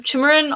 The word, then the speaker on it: Chimerin: i would like um chimerin on dps spell it uh like like shim but with a c like chimerin is he on the